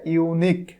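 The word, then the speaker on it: unique: এখানে কি হবে বলতো, এখানে হবে ইউনিক। দেখো ইউনিক শুরুতে আছে ইউ ভাওয়েল, কিন্তু এখানে কি অ্যান হবে? অ্যান হবে না, কারণ শুরুতে ভাওয়েল থাকা সত্ত্বেও উচ্চারণটা হচ্ছে ইউ এর মতো, এই জন্য এখানে অ্যান না হয়ে এ হবে।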